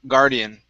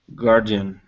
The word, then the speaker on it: guardian: crystal okay good um next is guardian instead of guardian it's an r sound only gar guardian guardian good and last one